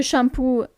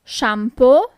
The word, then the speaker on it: shampoo: not SPO but speo the shampoo is shampo shampo so basically you just have to change the pronunciation of the last two letters is not U anymore but it's just o shampo the condition isal Bal